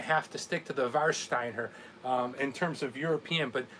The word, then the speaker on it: Warsteiner: Chuck Pilsner all right instead of war save our w is there are pronounced with the vow of oh so what are you telling me there Greg are you telling me this is var Steiner does this called var Steiner all right well no